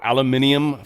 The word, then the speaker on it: aluminium: tariffs on steel and aluminum or aluminium for my British friends under the even though